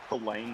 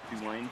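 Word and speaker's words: Tulane: signal for Also, isn't it pronounced to lane, not two lane?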